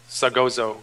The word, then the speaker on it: Sagozo: Sagozo combo. Sagozo! Sagozo! Yeah, because the Zo is elephant.